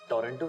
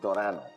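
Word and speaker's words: Toronto: टोरेंटो शायद इट्स नॉट टोरंटो। इट्स टोरनो। T silent है।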